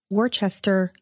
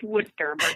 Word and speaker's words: Worcester: of the Holy Cross in Worchester Massachusetts did I pronounce that right Lisa oh no it's Worcester thank you I still